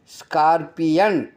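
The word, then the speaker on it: scorpion: எழுத்துக்கு வரணும் யா யா பாருங்க ஸ்கார்பியன் ஸ்கார்பி பிக்கு அடுத்த ஓக்கு யா உச்சரிப்பு வருது ஸ்கார்பியன்னா தேளு ஓரையன் அந்த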